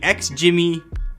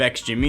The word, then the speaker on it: XGIMI: guess you can ladies and gentlemen meet the ex jimmy elfin a small projector that packs a pretty decent punch but you've probably never heard of x jimmy and if you had maybe you wouldn't know